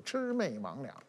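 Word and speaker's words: 魑魅魍魉: 字就准确读音就是魑魅魍魉，也吃饭的吃，妹妹的妹，上网的网，两个的两，那你这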